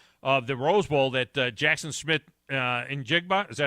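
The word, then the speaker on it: Smith-Njigba: Well, I had tweeted in the third quarter of the Rose Bowl that Jackson Smith Njigba, is that how you say his name? Jackson Smith Njigba.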